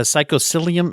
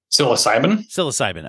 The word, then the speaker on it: psilocybin: Now, when we say, how do you, gosh, I always mispronounce the word, by the way. It's a psychosilium. How do you say that? Psilocybin.